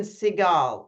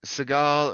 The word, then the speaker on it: Segal: actor. George Segal, Siegel. or you can do it like Steven Seagal. It works both ways.